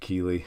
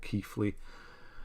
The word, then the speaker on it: Keighley: But in England, there's a place near Leeds called Keighley. It's spelt the same and it's called Keighley. There's an F in there for some reason.